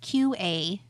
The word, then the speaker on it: Qapital: And I know that sounds like it's probably spelled with a C, but it's not. It's Qapital, Qapital.